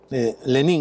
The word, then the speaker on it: Lenín: Moreno también dijo, Lenín Moreno, y hay que enfatizar el acento en la I para diferenciarlo, ¿no?